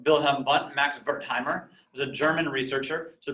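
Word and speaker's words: Wertheimer: like bill hambund max bertheimer is a german researcher so the w is pronounced like a v and and bertheimer said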